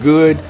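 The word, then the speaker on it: Geaux: He don't spell it normal. He's from Louisiana. They spell go a little different. G-E-A-U-X.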